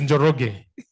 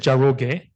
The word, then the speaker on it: Njoroge: Your name is Njoroge, correct? You should see, if you look at the transcript on Zoom, I just said Njoroge and said Jaroge.